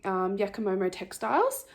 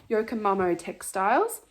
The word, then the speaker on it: Yokomo Textiles: cocktail fruit tinker cocktail by yakimoro textiles yokoma sorry i said it wrong every time yokomo textiles um it's a very pretty